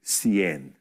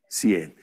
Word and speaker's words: cien: the hundreds numbers now 100 by itself is Cien sien that's if you're just going to say the number 100 Cien but if I'm going